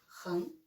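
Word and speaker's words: 人: Si vous connaissez ça, et puis vous mettez juste un trait de plus, ren, et ça devient un autre caractère.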